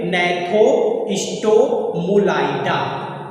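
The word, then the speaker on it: Gnathostomulida: जो जी है इसमें क्या है? साइलेंट है, तो इसे हम क्या पढ़ेंगे? नैथोस्टोमुलाइडा। ठीक, क्या हम लोग पढ़ रहे हैं?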